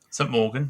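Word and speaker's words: St Mawgan: And saying, I could never pronounce it, St. Morgan. St. Morgan, that's right.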